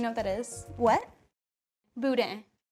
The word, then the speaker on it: boudin: Boudin. Spell it for me.